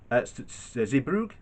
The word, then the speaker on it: Zeebrugge: hull to sat to zarbrugger zebroog i think that's how you say it effective from the